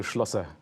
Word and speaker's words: Schlosser: Mario Schlosser.